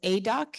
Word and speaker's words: Aidoc: I just finished my most recent Harvard Business School case is about a company called ADOC. It's spelled AIDOC.